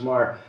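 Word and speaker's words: Meagher: relationship, a wonderful woman, Sylvia Maher, M-E-A-G-H-E-R, pronounced Maher, who lived alone, a single woman in Greenwich Village, working at the United Nations.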